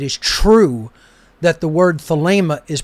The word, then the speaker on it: Thelema: true that the word Thelema is pronounced just as I pronounced it, Thelema. Okay? I hear people who claim to be Thelemites pronouncing it Thelema, and that's just a bastardization of the pronunciation.